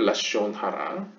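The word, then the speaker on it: לשון הרע: 여기서 이제 Lashon을 Lashon이라고 표현한 거 이제 동유럽권 약간 하시디즘이나 약간 그쪽에서 발음할 때 약간 카메츠를 이렇게 발음해서 그렇고요. 하여튼 현대 히브리어로 이야기를 하면 Lashon Hara, Slander and Cursing.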